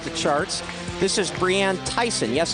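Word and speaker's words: Theisen: of Oregon topped the charts this is Brianne Tyson yes it's pronounced Tyson she's from British Columbia she's actually from Humble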